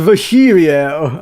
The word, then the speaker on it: Virgilio: It's pronounced Virgilio.